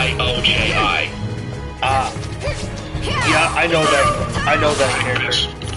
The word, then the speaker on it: Onmyoji: On Miyu. Oh, I'm pronouncing that wrong. Onmyoji.